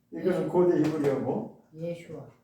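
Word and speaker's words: ישוע: 원래 예수라고 하는 이름이 본래 히브리어로 원래대로 하면은 이렇게 부르는 게 맞습니다. 예수와. 왜 예수하냐? 이거는 히브리어로 그렇다는 거예요. 히브리어로 예수와예요.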